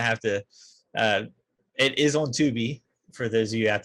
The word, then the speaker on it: Tubi: It is on Tubi for those of you out there that want to see another bad.